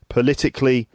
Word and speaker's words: political: syllable and then uh the adjective political political the the word stress is on the second syllable political and then the